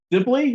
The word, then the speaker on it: Sibley: I am so pleased to have Sibley. Is that the correct pronunciation of your last name? That's correct. Yes, Sibley.